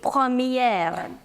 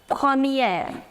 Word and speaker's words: première: Feminine would be première. Premier. Here you do not pronounce this R. So you say premier. Feminine, première.